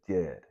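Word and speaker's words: Djed: showing you the ank they're showing you the Jed you know this is spelled D J D Jed you know it's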